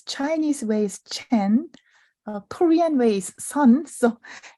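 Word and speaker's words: Seon: as Zen so that's the Japanese way of pronouncing mindfulness Chinese ways Chen Korean ways Sun so it's the same word but Koreans Chinese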